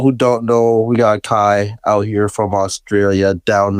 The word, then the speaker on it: KVII: bio, like you have it says pronounced Kai or whatever name. Yeah, everyone asks, like when everyone sees it, everyone's always like or Kvii, or like there's so many funny names, and I think it's like funny.